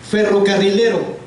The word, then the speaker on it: ferrocarrilero: La penúltima es de esta palabra la sílaba tónica, o donde va la que suena más fuerte.